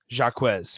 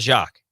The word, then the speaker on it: Jacquez: were reading through it the pronunciations jacquez i believe it was jacquez it's not jacques i think i said